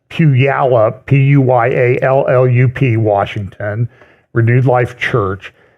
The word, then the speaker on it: Puyallup: By the way, next Sunday, I will be speaking at Renewed Life Church in a town in the Seattle area, which phonetically is Puyallup, Puyallup.